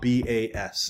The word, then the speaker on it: bas: That ba bas is pronounced ba.